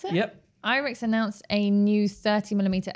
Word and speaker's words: Irix: really hoping together very soon and happiness also irix is that how you pronounce it yep irix announced a new 30 millimeter f 1.4 lens